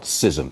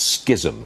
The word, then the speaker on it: schism: well isn't there skin it's not Scism its schism the K is or the see that everyone's in school of economics gizem go ahead mr.